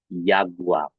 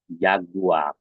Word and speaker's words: Jaguar: Yaitu Jaguar ya. Jaguar. Nah, karena tadi huruf J kan dibacanya J, maka dalam kata dia menjadi huruf Y ya.